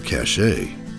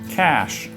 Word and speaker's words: cache: Is this word pronounced cash or cachet? Cash.